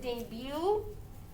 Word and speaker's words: debut: So like for instance the word debut, it doesn't end with a vowel, it ends with a T, but it has that vowel sound, debut. You don't hear the T, it's silent.